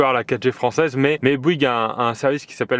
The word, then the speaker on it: Bouygues: Comment tu prononces ça? Bouygues Télécom.